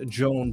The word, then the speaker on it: Joan: here no problem no problem is it uh Joanne or Joan how do I pronounce it Joan all right excellent so to